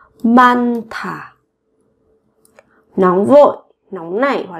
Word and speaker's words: 많다: 많다 các bạn nối phụ âm sau này lên phát âm thành âm thở. 많다.